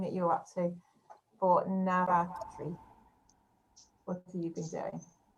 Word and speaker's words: Navratri: it wrong so let's see so happy nava navratri is that right did i say it right